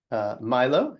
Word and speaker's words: Milo: Milo, is that how you say your name? Yes, that is how you say my name.